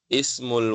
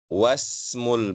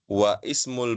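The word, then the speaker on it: اسم: Saya baca jelas ismu karena dia mengawali kalimat ismu baca i. Ismul waladi Muhammadun. Adapun yang kedua wasmu. Nah, ini hamzahnya tidak dibaca ya. Jadi bukan wa ismul binti Zainabu, bukan ya, tapi wasmul binti Zainabu langsung ya masuk ke sin yang ber yang berharakat sukun di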